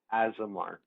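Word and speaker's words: Aasimar: Azamar.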